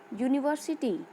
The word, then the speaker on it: university: See the example: a unique, a university, a European. As you can see, the words unique, university, European start with vowel letter but produces the sound of a consonant Y.